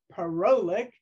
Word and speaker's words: Parolek: I was saying it wrong for 4 years, Parolek.